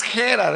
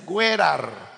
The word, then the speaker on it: Gerar: La pronunciación correcta no es Gerar, es Gerar.